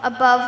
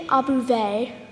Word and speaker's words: Above: I'd like to call Above the Dove. It's actually Abuve. Excuse me? It's spelled like above, but it's pronounced Abuve.